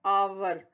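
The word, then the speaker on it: hour: का जो पैमाना है आवर तो आवर बेबी कॉर्न फाल जो है लेटर ओं साइलेंट है कि शाबाश एच है वह साइलेंट लैटर तो प्यारे बच्चों हमारी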